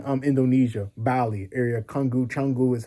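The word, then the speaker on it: Canggu: Kungu Chungu is how it's pronounced.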